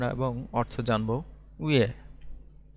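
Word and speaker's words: 왜: উয়ে, এটার উচ্চারণ হচ্ছে উয়ে।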